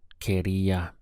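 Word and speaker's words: quería: look at the pronunciation we have K followed by RIA solo Karia this means I just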